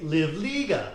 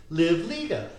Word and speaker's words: Livliga: so I always say remember that movie called a league of their own and if you think about a league of say live Liga so a league of their own live Liga exactly and of course